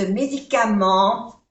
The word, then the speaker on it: médicament: Ne pas prendre ce médicament sans ordonnance. Médicament, medicamento en español, la pronunciación médicament. N se pronuncia en y no se pronuncia la T.